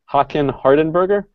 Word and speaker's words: Håkan Hardenberger: I know this trumpet player's name, but pronouncing it still trips me up. It's Håkan Hardenberger, and the trombonist Christian Lindberg.